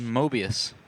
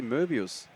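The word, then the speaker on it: Möbius: It's called Mobius. Yeah. Should be Murbius. Murbius. Yeah. Just like the German one.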